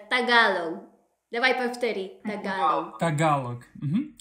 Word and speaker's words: тагалог: Во-первых, я хочу тебя спросить, филиппины и испанский, есть филиппинский язык или талаго, или как правильно произносится, прости. Вот очень смешно. Не талаго, вот тагалог.